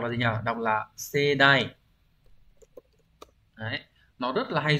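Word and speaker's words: 盛大: Đọc là sedai.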